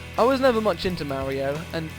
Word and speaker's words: Mario: much into Mario and being English I'd say Mario not Mario which I don't understand that's what Americans say I don't understand why why would you say Mario spelled Mario that's how you say it in the English language anyway uh that's not